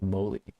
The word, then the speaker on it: Moly: Molly. Moly? I think they pronounced it Moly.